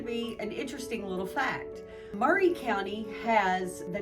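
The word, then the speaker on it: Maury: I find to be an interesting little fact Murray County has the name Murray it looks like Mari like Mari poic but it is pronounced Murray as tennesseeans typically do you'll find and we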